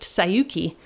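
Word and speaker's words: 西遊記: what you have here is they are both pronounced sayuki but one is journey to the west and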